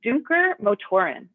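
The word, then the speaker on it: Dunkermotoren: to pronounce this right is a company called duker motorin is how it's pronounced in europe but in the u.s and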